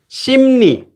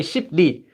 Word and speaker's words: 심리: 심리. So these two letters don't like each other. They're very difficult to say this letter before this. It would be very hard to say 십리. So they became 심리.